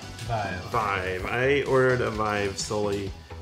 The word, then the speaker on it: Vive: Do you pronounce it Vive or V? Vive.